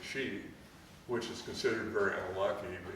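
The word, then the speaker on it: 四: next pronounced the next letter four is she which is considered very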